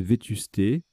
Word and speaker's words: vétusté: Ensuite, alors là, on a vétuste ou vétusté, hein, c'est le nom féminin, on peut le prononcer on peut le prononcer vétusté.